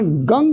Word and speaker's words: गं: वास्तव में उसका उच्चारण गंग गणपते नमः है, गम नहीं।